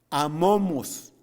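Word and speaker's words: ἄμωμος: la palabra sin mancha en griego se escribe o se pronuncia amamos amamos no tenemos que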